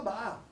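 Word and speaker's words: Bahá'u'lláh: Le H est aspiré. On n'a pas de H aspiré en français, sauf pour les haricots. C'est pas Baha. Baha. Baha. En plus, le U est mal transcrit.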